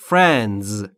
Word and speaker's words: friends: بچه‌ها در مورد تلفظ فرندز دقت بکنید فرند نیست یا فرندز نیست فرند فرند فرندز به این دلیل که بین اف و آ صدایی وجود نداره پس دقت بکنید که درست تلفظ بکنید many friends من دوستان